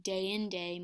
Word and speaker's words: deinde: And dende here actually would be deinde most of the time, but it's synezesis here, so it's actually only 2 syllables instead of 3.